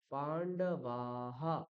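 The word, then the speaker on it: পাণ্ডবাঃ: উকার হু ঠিক আছে যেমন আমরা এখানে দেখছিলাম পান্ডবা আকারের পরে বিসর্গ রয়েছে তাহলে আমরা বিসর্গটাকে কি করব বাহা পান্ডবাহা মনে থাকবে এই জিনিসগুলো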